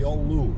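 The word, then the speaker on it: Giolou: or two here we are the village of Galu or yolu however you want to pronounce it but I was told it's pronounced y yolu so that's what we'll call it there's a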